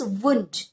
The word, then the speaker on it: wound: देखो इसके उच्चारण पर wind okay, the next is वुंड. वुंड यानी जख्मी होना है.